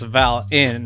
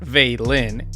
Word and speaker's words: Valen: Valen, pronounced Val-in and not Vei-lin, is the IGL and the primary smokes.